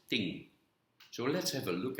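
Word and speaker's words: 听: means listening in chinese in mandarin it is pronounced as ting so let's have a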